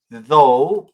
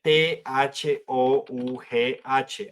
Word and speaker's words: though: Se pronuncia though, pero se escribe t h o u g h.